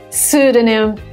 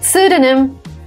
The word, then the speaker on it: pseudonym: Pseudonym. Oh my God, again, some foreign word that came into English. Pseudonym. Yes, not pseudonym. Pseudonym. The first P is silent.